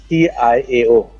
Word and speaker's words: Hua Tiao: HUATIAO.